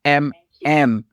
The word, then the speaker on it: Emem: A lot of people don't pronounce it, but it's pretty straightforward. EMEM is MM.